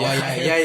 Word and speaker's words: Orion: And everyone tried to call us out saying that it's called Orion, not Orion. Yeah. Like guys, it's Orion, like the constellation.